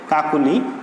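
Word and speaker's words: কাকলি: তো এর উচ্চারণটা হচ্ছে, যেহেতু পরবর্তীতে ই রয়েছে, ই ধ্বনি রয়েছে, এই জন্য এর উচ্চারণটা হচ্ছে কিসের মতো? উচ্চারণটা হচ্ছে ও এর মতো। যেমন কা কো লি, কাকুলি।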